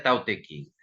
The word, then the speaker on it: Tao Te Ching: Entonces, aunque se pronuncia como antes, por ejemplo, el Tao Te Ching, aunque ahora se escribe Dao De Jing, se pronuncia Tao Te Ching.